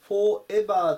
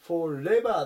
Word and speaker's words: Forever: 794 番 Forever Forever 発音に注意ですねよくカで Forever ていう風に言うんですけどこの R と E の部分が繋がるので Forever ていう風に